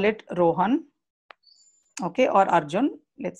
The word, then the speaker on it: Arjun: Yeah, so if I say A-R-R-R-J-U-N and then pronounce it. Arjun. So this sounds better than the earlier one. So I can modify it using this phonetic spelling and I can save it.